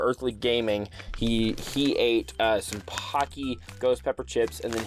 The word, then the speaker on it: Paqui: It does say Paqui rhymes with hockey on the back, so that you know how to pronounce it.